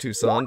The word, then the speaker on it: Tucson: spell it like it was toxin but it's pronounced tucson put the word the in front of it